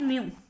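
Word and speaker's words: mu: Mean तब लिखा जाता है एज दैट इज म्यू. इसे हम म्यू बोलते हैं. इसकी जो प्रोनाउंसिएशन है वो है म्यू.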